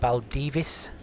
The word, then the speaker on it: Baldivis: It's pronounced Baldivis.